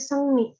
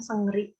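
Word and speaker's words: 생리: Nah, ini dibacanya Sengni, bukan Sengri. Karena konsonan iong ketemu R jadi N, Sengni.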